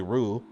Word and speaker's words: Ryu: was Ryu or Ryu it's actually Rue if you want to go like officially by like Japan it was rue uh there was Ninja